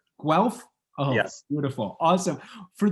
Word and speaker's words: Guelph: Byram Bridle, Associate Professor of Viral Immunology at the University of, how do you pronounce that, Byram? Guelph. Guelph?